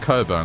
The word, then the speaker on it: Cockburn: b u r n it's meant to be pronounced Coburn it's like well what